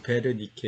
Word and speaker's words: 베르니케: 영어로 웬 있게 내 이거 독일 식으로 w 를 위로 이제 매라 니케 라고 읽으시면 됩니다 그래서 우리는 비유로 베른 이게 왠 익혀 가니까 베르니케 이렇게 버 이 줘 그렇게 씁니다